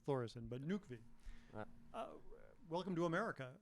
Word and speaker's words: Þórisson: I'm still working on the H. I was saying Thoresen too long. I've got to convert myself to saying Thoresen, but Nökkvi.